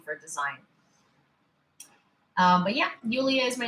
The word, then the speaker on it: Yulia: My real name is Yulia, which is Yulia. But I spell it as because when I write it